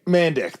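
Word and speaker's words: Mandić: Mandick. That is correct. That is I looked that up. That is how you say it.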